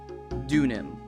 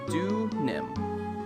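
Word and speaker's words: Deauxnim: It is pronounced Dunim. X is silent. Okay, so Do-nim. Miss Do-nim. Got it.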